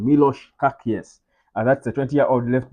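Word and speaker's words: Miloš Kerkez: he's born in Sabia his name is kakz or maybe kakz I think I think that should be the right pronunciation Milos kakes that's a 20y old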